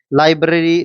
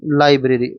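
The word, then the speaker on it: library: और ली बे लीबेरी लाइबेरी गलत उच्चारण होता है इसका जो यह ठीक है कौन सा? लाइब्रेरी।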